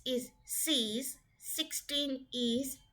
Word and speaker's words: six: It becomes SIX, sees.